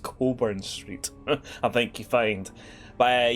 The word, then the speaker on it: Cockburn Street: on a street called Coburn Street, which is spelt Cockburn Street, but it's pronounced Coburn Street.